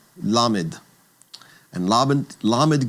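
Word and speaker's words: lamed: Lammed gets the sound or the L sound. And so it's going to be the sound that would be at the beginning of the word say like lemon l.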